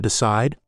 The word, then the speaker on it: decide: And how about decide? Decide. Perfect. Decide just jumps out. Listeners, decide. Feel that push on the second part. It's not decide or decea. It's decide. That's the word stress.